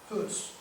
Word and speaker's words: Hus: But there was a rector in the Western Church in Prague, Czechoslovakia, by the name of John Hus, we would say, pronounce it.